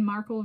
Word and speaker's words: Markle: So Meghan Markle rhymes with sparkle.